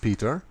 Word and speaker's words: Pater: the sacred stone like the word Pater as it is written here but pronounced Peter which came to indicate